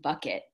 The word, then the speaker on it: Bouquet: young model named June Bouquet. And that is really her name. She is an immigrant from the Midwest where her last name is pronounced Bucket.